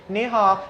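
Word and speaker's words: 你好: He stood there like this, So I don't say hello, I say ni hao.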